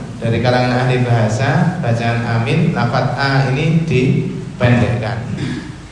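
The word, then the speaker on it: آمين: para ulama yang pertama adalah hamzahnya dipanjangkan mim dan huruf ya nya dihilangkan sehingga dibaca ini membatalkan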